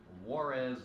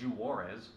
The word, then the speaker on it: Juarez: um today we have Warz gold um I'm pretty sure that's how you pronounce the silent J in Spanish unless it's jarez which I doubt uh this is a